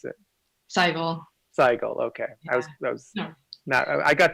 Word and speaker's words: Sehgal: How do you pronounce it? Sehgal.